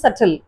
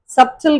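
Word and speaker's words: subtle: தென் சட்டில், சப்டில் கிடையாது, சட்டில். ஸோ இந்த வேர்ட்ஸ்லாம் பி சைலண்டா வரும்.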